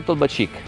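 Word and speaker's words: Толбачик: Tolbačić o Tolbačić? Tolbačić, visto, ho sbagliato l'accento, tanto per cambiare.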